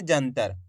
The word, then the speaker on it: जंतर: तो मिलके बन जाएगा जंतर। आ रहे समझ में? बस आपको करना के आधा ना का उच्चारण निकालना है, पूरा ना का नहीं निकालना, आधा ना का। इस तरीके से पढ़ेंगे जंतर।